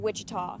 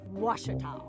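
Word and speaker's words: Ouachita: for was Baptist University back in Texas everybody pronounces it Witchita but really it's was wash wash how would you pronounce it wash wash it's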